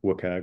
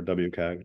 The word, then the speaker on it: WCAG: be compliant with U for wag or wag depending on how it's pronounced uh it's a work